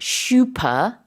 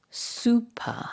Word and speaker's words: super: about this but um in English it's not shup it's super right and it's not that